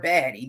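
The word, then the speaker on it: Badie: Is it Bidet or Baddy? Because his name is spelled B-A-D-I, but they're saying that it's Bidet. I would think it was spelled like Bidet.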